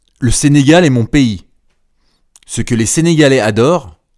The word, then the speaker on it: pays: c'est lycé pas franis on dit pays pay vous pouvez répéter pays pays pays oui est-ce com la lettre P il la lettre I p p p p